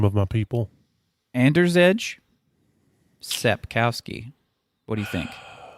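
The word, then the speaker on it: Andrzej: polish story originally by here we go don't mispronounce the name of my people ander's edge sepkowski what do you think yeah i don't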